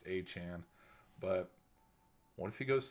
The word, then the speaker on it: Etienne: out, that's gone viral, of it's actually pronounced Achan.